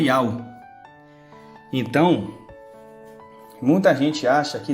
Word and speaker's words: Yahweh: Este nome aqui, vou mostrar para vocês agora que este nome aqui, ele se pronuncia Yahweh.